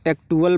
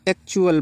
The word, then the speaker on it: actual: बहुत से बच्चे इसको एक्टुअल पढ़ते हैं, नॉट एक्टुअल, इसको एक्चुअल पढ़ेंगे।